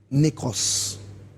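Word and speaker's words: νεκρός: J'ai marqué la mort Oui. se prononce en grec nékros.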